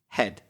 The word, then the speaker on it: head: And then we've also got the word head, which has an E and an A, and in this case pronounced E. You'll see later that the letters E and A are often pronounced a different way, but in this particular word, it's head.